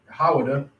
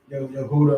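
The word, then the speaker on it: יהודה: Right, which how you pronounce it in Hebrew would be Hawada, not Yehuda or whatever everybody else be saying.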